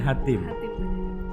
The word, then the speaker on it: Hatim: Dia adalah Olive Hatim, bacanya Hatim.